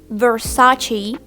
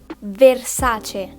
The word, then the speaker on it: Versace: gucci then we have not versace but versace now that we said these